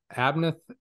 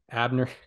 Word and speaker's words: Abner: for the eighth yeah abneth Uribe gotta make sure I get the pronunciation right yeah Abner just just like him just like just like Abner Doubleday I remember yeah I